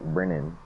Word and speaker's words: Brennan: name right for once, I feel so bad for not saying it right. Brennan, like Brennan. Brennan. I don't try to say Brennan. It's Brennan.